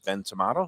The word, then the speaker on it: Ben Tomato: there tomato or tomato it's tomato it was pronounced by uh oh yeah announcer here oh Peter what a great guy can you pronounced it Ben tomato so that's what I'm